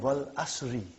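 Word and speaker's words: والعصرِ: Wal Asr. Have you ever noted down what is written there? It's called Wal Asri.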